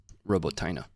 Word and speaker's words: Robotyne: Robotyne.